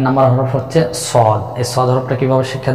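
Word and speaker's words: صاد: সদ হরফটা কিভাবে উচ্চারণ করতে হয়? জিহ্বার আগা, সামনের নিচে দুই দাঁতের পেট ও আগার সঙ্গে লাগিয়ে মোটা আওয়াজে উচ্চারণ করতে হবে, 4 আলিফ পরিমাণ টেনে।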